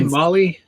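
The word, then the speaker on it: MOLLE: Molly case of course you say Molly say mle I looked it up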